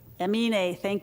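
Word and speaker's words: Aminé: You know, some of you may know this artist, and I don't think I ever pronounced his name correctly. Emine? Emine, thank you very much.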